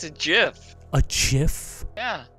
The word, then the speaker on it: GIF: GIF, you mean? Creator of the GIF format, circa 1987, pronounced with a soft G.